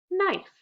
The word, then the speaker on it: knife: Which letter is silent? K. What's the word? Knife.